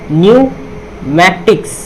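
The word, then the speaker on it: pneumatics: अब यहाँ पे एन से पहले क्या है, पी है, तो यहाँ पे ये पी साइलेंट होगा। तो क्या होगा, ये हो जाएगा आपका न्यूमैटिक्स।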